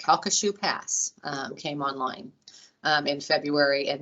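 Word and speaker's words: Sabine Pass: it's taken me a while to learn to pronounce this it's shoe pass came online in february and now daily we're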